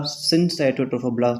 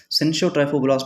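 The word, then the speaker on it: syncytiotrophoblast: में, एक साइटोट्रोफोब्लास्ट एंड दूसरा सिनसाइटोट्रोफोब्लास्ट, जिसको हम सिंशोट्रोफोब्लास्ट भी बोलते हैं। वाट ever you pronounce it, it doesn't matter, ठीक है। सिनसाइटोट्रोफोब्लास्ट is more authentic.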